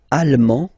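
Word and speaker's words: allemand: masculine or feminine britan Alm Alm okay same thing here okay you don't pronounce the final D but then you pronounce it here for the feminine form Al okay Al Al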